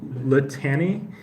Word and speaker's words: litany: So this word here, the spelling is like litany, but the pronunciation is litany, like with a soft T.